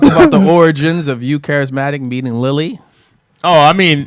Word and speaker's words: Karizmatik: Karizmatik. That's the way the white boys say Karizmatik. It's one of your words, but you say it wrong still.